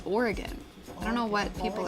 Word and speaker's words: Oregon: Everybody on the East Coast says it's Oregon. It's not, it's Oregon.